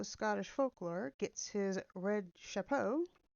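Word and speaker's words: chapeau: folklore gets his red Chapo did I not pronounce it shapo c h a p e AU from dipping it in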